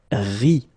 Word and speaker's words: rit: that quite many times, you don't pronounce this final E and T, and so phonetically you get the sound ri, okay, exactly like you